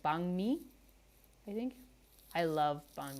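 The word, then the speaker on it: bánh mì: I'm learning the proper pronunciation. I don't even know if that's proper, but it's closer, I guess, than pho and banh mi. Banh mi. So I guess if there's like an NH, it kind of sounds like NG.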